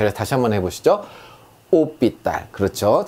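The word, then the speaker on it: hôpital: 오삐딸 이렇게 합니다. 이게 호삐딸이 아니라 오삐딸이라고 하는 거예요.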